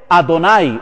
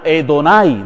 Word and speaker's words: Adonai: Kyrios en griego y en hebreo Adonai o Edonai, dependiendo de la pronunciación hebrea.